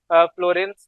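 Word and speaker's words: फुलरीन: नाम इस्तेमाल किया है फ्लोरेंस कहते हैं हम इसको नाम आपकी स्पेलिंग के ऊपर नहीं जाना है तो फुल रेंस कहते हैं फुल रेंज ठीक है तो ये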